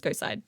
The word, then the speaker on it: GHOSTCIDE: Some people are kind of asking how you pronounce GHOSTCIDE. It's GHOSTCIDE, by the way.